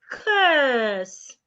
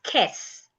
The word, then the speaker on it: curse: We can also have another word as in the word curse. Not kiss. Curse. You should not curse. It's wrong. Not you should not cuss or kiss.